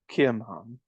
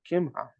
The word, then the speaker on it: Kimham: The king answered, Kimham, or Chim, I think it's pronounced Kimham, shall go over with me, and I will do to him that which shall seem good unto thee.